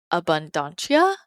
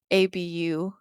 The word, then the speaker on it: Abundantia: And then one of the other goddesses that I like to work with around abundance is, people pronounce her name differently, but she says to me, Abundantia, Abundantia.